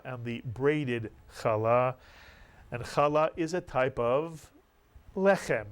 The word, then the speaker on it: challah: Allah Mitsu yong-chol ah in Sephardic Hebrew the accent would be on the second syllable Allah many people say Carla but it's challah one no but if